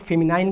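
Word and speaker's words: feminine: इसे कोई लोग फेमिनाइन कहता है, कोई लोग फेमिनिन कहता है, लेकिन हम इसे फेमिनिन कहते हैं।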